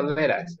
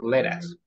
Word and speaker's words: let us: Esto se pronuncia leras, así, leras. Leras. Let us, no la separen, let us, déjanos. Eso significa déjanos, ¿verdad? Let us. That is how you pronounce.